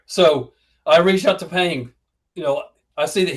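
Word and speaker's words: Paing: You see, is it Ping? P A I N G Ping. Is that right? Yes. Okay. So, yeah. Penguin. All right. So I reach out to Ping, you know, I see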